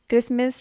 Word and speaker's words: Christmas: castle christmas half so match t silent castle t silent christmas tea silent so these three are silent t words and half is different because this is l silent word silent l word question number three solve